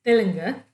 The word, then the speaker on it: Telugu: She said, you say Telugu, which is my melding of the way Malayalis say Telugu, which is Telunga, and the way Telugu people say Telugu.